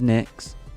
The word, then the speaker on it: Nyx: There you are, Mrs. Nicks. It's spelled NYX.